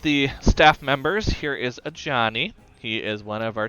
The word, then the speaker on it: Ajani: It's AJANI. Yep, a Johnny.